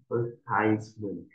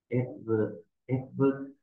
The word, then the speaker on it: advertisement: advertisement advertisement Cái chữ A đầu tiên nó sẽ có hai âm, một là E, hai là M. Advertisement hoặc là advertisement.